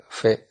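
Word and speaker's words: פ: Si una palabra termina en una vocal y la próxima palabra empieza con la Bet, Pe, Kaf, debe pronunciarlas como Wet, Fe, Jaf.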